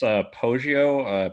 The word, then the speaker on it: Poggio: It's Poggio, Poggio, and the book is The Facetiae, Facetiae.